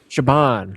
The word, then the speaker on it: Siobhan: Shabban.